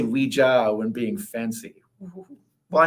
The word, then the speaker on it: Ouija: I go with the traditional French pronunciation. Because it's hui for French for yes, and ja, which is yes. That's a yes/no board.